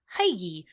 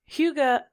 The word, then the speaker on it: hygge: about hygge which is the danish word that's spelled h-y-g-g-e which being hell american i want to pronounce heidi but it's not it's huga which makes me think